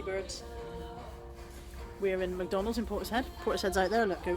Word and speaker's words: Portishead: Portishead. You have to say it like that, it's the rules.